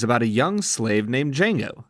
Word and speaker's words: Django: what you think of D Jango Unchained the movie D Jango Unchained is about a young slave named D Jango the D is silent and his partner in